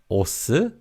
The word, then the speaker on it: 옷: Now, this word has a 시옷 받침, but it's not pronounced as 옷, but 옷.